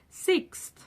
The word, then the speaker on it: sixth: So, this word I can see why a lot of people really struggle with it, but it is pronounced sixth. Sixth. And it's quite difficult because of the th at the end, sixth.